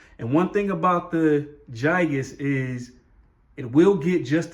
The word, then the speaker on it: gigas: over to the gigas gigas i just learned that you supposed to pronounce it with the like with the letter j kind of like gigantic even though it starts with a g so philodendron gigas as